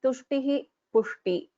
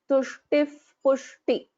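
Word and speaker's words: तुष्टिः पुष्टिमती: So I will not pronounce this as Tushtihi Pushti. I'll pronounce this as Tushtif Pushti. Tushtif Pushti.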